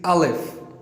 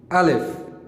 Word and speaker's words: Alif: first letter in Arabic is Alif.